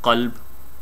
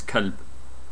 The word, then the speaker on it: qalb: If a person was to mispronounce the first letter, the qaf, just by pronouncing it softer, making it into a kaf, then the whole word changes. It becomes kalb, and kalb in the Arabic language means dog.